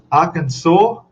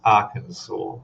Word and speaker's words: Arkansas: I'm sure that's Arkansas. Arkansas. You pronounce the S? I don't think so.